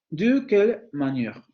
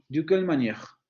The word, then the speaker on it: de quelle manière: Es decir, si yo en el primer elemento de mi enunciado tengo esa vocal media central labializada, entonces la voy a pronunciar, como lo que ocurre aquí. De quelle manière? De quelle manière?